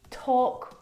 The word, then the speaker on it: talk: half not half would talk walk all of these words have a silent l in them which makes them a